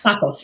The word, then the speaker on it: Tsakos: Anastasios Tsakos. Tsakos, yeah, the T is silent.